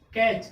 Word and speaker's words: catch: जैसे मान लीजिए अभी आपको बताया ना, कैच, कैच मीन्स क्या था, पकड़ना, CATCH, जिसमें क्या साइलेंट था, CATCH, जिसमें क्या साइलेंट था, T। CH से पहले क्या आया था, T।